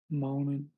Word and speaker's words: mounted: Now uh when you're learning English, for whatever reason, they always teach you to pronounce the T, but in reality, we don't always pronounce a T.